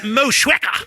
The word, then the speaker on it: Motueka: And he's like when we first told him we were brewing a beer with the Motueka hops. He's like, that's not how it's pronounced. It's Moshweka.